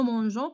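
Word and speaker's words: mangeons: حيت باش ما تنطقش لينا غو كنديرو او. دونك كتولي نو مونجون كنزيدو هاد او الا كانت عندنا جي هنا حيت حدا او كتنطق غو.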